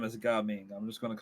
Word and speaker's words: Gaming: His name is Gaming. Yeah. Unless it's supposed to be pronounced in a Mandarin type way, then it'd be Gaming.